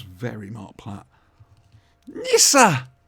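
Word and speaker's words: Nyssa: Nissa! You got to say it like that. Nissa.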